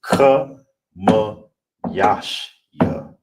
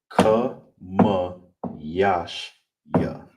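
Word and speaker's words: חמישי: So, all together how you break it down and say it is ka ma ya shi ya. ka ma ya shi ya All right, and that is how you say fifth in Hebrew.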